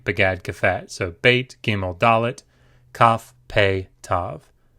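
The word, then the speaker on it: ב: Beit can appear with the dagesh. If it does, it is pronounced b, b. If it does not have the dagesh, it is pronounced v, v. With the dagesh, b. Without the dagesh, v.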